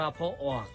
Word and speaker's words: พ่อออก: ว่า พ่อ ออก ครับ พ่อ ออก เขียน พ่อ พาน แม่ เอก ออ อ่าง ออ อ่าง อ่าง ก ไก่ ครับ ร่วม กัน แล้ว อ่าน ว่า พ่อ ออก พ่อ ออก มี อยู่